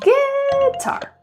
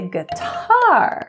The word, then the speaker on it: guitar: test you on another what about guitar which syllable is stressed do I say guitar or do I say guitar that's right the second syllable so if the